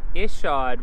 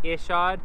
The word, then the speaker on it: Ishod: right this time guys is it Ishod I know I've gotten hell for saying I shod that's just kind of how I imagined merkins saying it I shot where so that's how I said it anyways let's get into